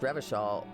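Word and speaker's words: Revachol: Oh, Revashall is pronounced Revashall.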